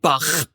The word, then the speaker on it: Bach: Back in the churchy times, in the Bach times, that's how you say it, Bach, not Bach.